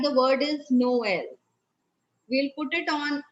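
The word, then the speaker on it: Noël: like the word is noel we'll put it on e and it comes the pronunciation goes no l no l we are going to get sound of both the vowels okay like that is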